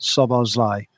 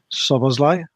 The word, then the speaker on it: Szoboszlai: It's Szoboszlai, not Szoboszlai, I think. Perhaps you should all try to respect his pronunciation. We will try and do that. Ernest, there's plenty to talk about Szoboszlai today, so I will try and do that.